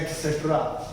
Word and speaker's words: etcetera: कभी गूगल पर सर्च करना या फिर कुछ करना, ETC को बोला जाता है एटसेट्रा।